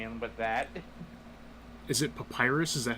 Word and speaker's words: Papyrus: Is it Papyrus?